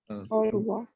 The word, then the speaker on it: au revoir: Au revoir. Au revoir. Aria? Au Au revoir? revoir. C'est clair? Oh, OK? Because clear. OI sound is wa.